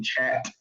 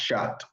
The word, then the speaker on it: chaat: On the website, it's spelled CHAAT, which is technically chat, but it is pronounced shot.